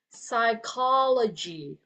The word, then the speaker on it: psychology: The word is psychology, okay? Psychology. It seems like when you hear the word biology, psychology, logy is the one on the back. It's like, I believe it's like knowledge like that, okay?